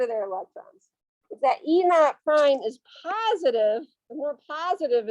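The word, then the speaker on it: E°′: this e naught prime that e o prime that's pronounced e naught prime that's a measure of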